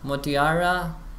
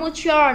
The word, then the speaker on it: Mutiara: Motiara? No, Mutiara, no like that. No.